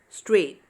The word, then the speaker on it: straight: Here the letter G, H are silent. We are just pronouncing N-E-I and B-O-U are neighbor. D-A-U and T-E-R. Fight, straight. Okay, so these are here GH is silent.